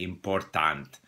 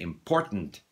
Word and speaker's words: important: We don't say important. We say important, you know, comprehend. We don't say comprehension. We say comprehension. So that sometimes called the schwa, but why introduce new terms? Unstressed syllable, the vowel disappears.